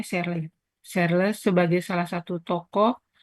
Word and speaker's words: Searle: Searle, ini bacanya Searle.